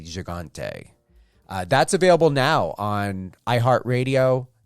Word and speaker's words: Gigante: I hope you guys heard my interview with actor Cam Gigante, or Cam Gigante. Yeah, everyone has a different pronunciation for it. The French pronunciation is Gigante. When I spoke to Cam, it's Gigante.